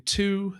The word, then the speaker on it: two: Having this silent W, having a double O